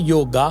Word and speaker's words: योग: अगर आ की मात्रा होती तो हम बार लगाते उस वो योग है योगा नहीं है।